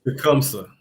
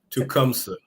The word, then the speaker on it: Tecumseh: Tecumseh. Tecumseh.